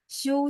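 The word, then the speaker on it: xiū: 'Show' berarti beristirahat. Ejaannya adalah X I U.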